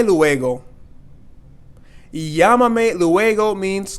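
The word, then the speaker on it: llámame: no recuerdo means I don't remember no recuerdo Yama me luego yamame luego means call me later and this accent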